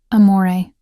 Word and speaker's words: amore: Amore. I said softly, demonstrating the proper pronunciation. The R is barely there. It's more of a suggestion than a sound.